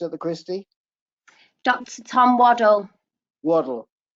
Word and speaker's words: Waddell: Tom Waddell. Waddell. Waddell? Yeah. Right. Okay. It's pronounced like Waddell, I think.